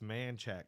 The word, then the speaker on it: Manchaca: though because down there you gotta say manchat because that just just how they pronounce it that's how Texans pronounce it right and I'm I'm Hispanic so I'm like I'm like uh Manchaca just makes sense I always say Manchester yeah manchaka right but it's not it's man checks but I mean that